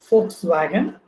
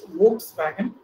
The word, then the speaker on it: Volkswagen: And we know that we have a car, a German car with the name Volkswagen, which we normally mispronounce as Volkswagen. It is actually Volkswagen, people's carrier.